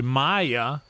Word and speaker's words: Maja: I realized that last night when Maja, who is actually Maya, and Red Band said her name correctly right out of the gate, and then I was like, oh, wait.